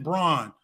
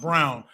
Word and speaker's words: Braun: grizzlies uh select christian brawn uh brown excuse me it's spelled braun it's pronounced brown uh from kansas what